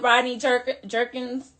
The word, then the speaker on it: Rodney Jerkins: I'm working with Rodney Jerkins.